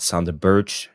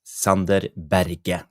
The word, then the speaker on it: Sander Berge: I just want to say to Jarle Malmin, yes, his name is not Sander Berge, it's Sander Berge.